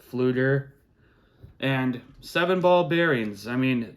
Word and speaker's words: Pflueger: Pflueger is spelled with a P, F, not just with an F. It's a silent P. It's Pflueger, Pflueger.